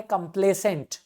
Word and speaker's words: complacent: So basically इधर pronunciation में ध्यान रखना. पहला वाला है कंप्लेसेंट. Okay, कंप्लेसेंट. दूसरा है कॉम्प्लेसेंट.